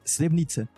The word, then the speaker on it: Srebrenica: Srebrenica. Srebrenica. O C eles falam esse Srebrenica.